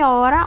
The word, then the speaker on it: hora: E hora, o H ele não tem som, então eu tenho 4 letras e 3 fonemas.